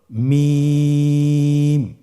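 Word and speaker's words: م: মিম হরফটি উচ্চারণের ক্ষেত্রে অবশ্যই বারিক হবে, পাতলা হবে এবং 3 আলিফ টেনে উচ্চারণ করতে হবে। আমার সাথে আরেকবার চেষ্টা করুন। মিম। আবার বলুন মিম।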